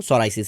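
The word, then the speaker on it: psoriasis: पे काम कर लिया मुझे पता लगा सोरायसिस में पीस साइलेंट होता है अच्छा तो भैया भी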